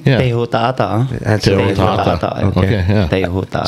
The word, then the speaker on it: Teihotaata: And sometimes that's why the H is like pronunciate like the French, like show, you know. Interesting. But the first meaning of H-O is like ho, you know.